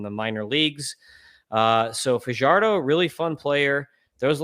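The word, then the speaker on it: Yhoiker Fajardo: It's uh Y H O K E R Fardo.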